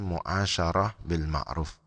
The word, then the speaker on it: mu'asyarah bil ma'ruf: itu ada dalam kurung mu'asyarah bil ma'ruf hai nah perhatikan deh biasa ini banyak yang salah terbaik balik bacanya musyawarah eh betul mu'asyaroh bil ma'ruf dan yang terakhir istilah